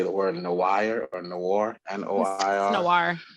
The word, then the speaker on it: noir: I don't know how to say the word noir or noir, N-O-I-R.